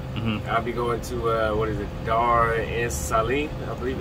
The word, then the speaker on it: Dar es Salaam: I'll be going to Dar es Salaam, I believe. Dar es Salaam. How you pronounce it?